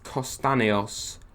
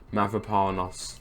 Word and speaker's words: Mavropanos: Let's move to the back of the pitch though and look at Kostanios. That's not how you say it. Mavropanos.